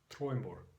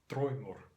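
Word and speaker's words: draumur: In Icelandic, the word is spelled the same way, except with a U between the M and the R, and this is pronounced Troimur, Troimur.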